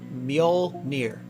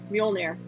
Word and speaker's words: Mjolnir: If I somehow knew Thor, I would laugh so hard if, wait, so, how do I pronounce his hammer again? Mjolnir. Mjolnir.